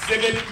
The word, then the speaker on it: Sibbett: the lovely miss james civic he told me to pronounce it like a frog simon david newsome the